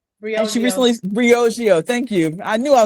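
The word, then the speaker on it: Briogeo: So Steve Stout uh Nancy Twine who has a phenomenal beauty company u Bargio that she recently Brioio thank you.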